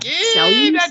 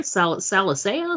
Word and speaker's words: Salusa: The Secundus I know how to pronounce. It's that first word that I'm like, Salusa, sure. Salicea, Salasa, salsa.